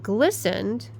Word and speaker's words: glistened: And glistened has a T.